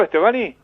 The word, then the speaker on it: Stevani: ¿Pronuncié bien tu apellido, Estebani? Sí, perfecto. Ah, bueno, no sabía si le estaba poniendo bien el acento.